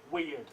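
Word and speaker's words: wyrd: But it's spelt wrong, again, by the dyslexic bloke, hence it's W-Y-R-D, weird, which is what the rune is called, weird or fate.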